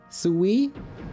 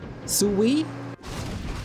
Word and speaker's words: Sui: Sue is closer to how you pronounce the name Sue. The name Sue. And the I is basically E. But it's difficult to put it together correctly without turning it into sway.